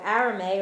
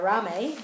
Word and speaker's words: arame: those nutritional properties so arame or arame as I said it's pronounced a little differently um let me see